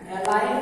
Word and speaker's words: align: इसी तरह ALIGN एलाइन में जी साइलेंट है और फिर लिसन वर्ड में LISTEN में टी साइलेंट है, टी अनुच्चारित लेटर है।